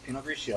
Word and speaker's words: Pinot Grigio: Yeah, Pinot Grigio.